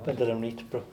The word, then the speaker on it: Vandelanotte: go quickly, Pascal Vandelanotte, is that the right pronunciation? Vandelanotte.